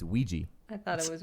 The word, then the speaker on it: Ouija: um what's a ritual game like like a Ouija like a Ouija I guess yeah I think like Ouija and like Ouija what did you just say Luigi it's Ouija it's Ouija I thought it was Ouiji oh u i j a oh you poor